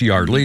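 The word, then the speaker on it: Yeardley: Her name is pronounced Yardley is spelled Yardly.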